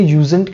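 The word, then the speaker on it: usen't: बट यूज नॉट का ये जो है इसे यूजेंट कहना है, ये आपको ध्यान में, मतलब ये प्रोनाउंसिएशन भी आप ध्यान में रखो.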